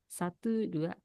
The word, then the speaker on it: satu: So, I will ask uh Kevin to pronounce it in Bahasa Indonesia. Satu.